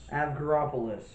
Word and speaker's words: Avgeropoulos: That's Avgeropoulos. Avgeropoulos.